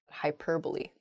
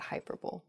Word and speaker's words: hyperbole: think some of those things happen to her hyperbole not hyperbole next Antarctic not ah oh I see Antarctic is the correct pronunciation of this word some people say and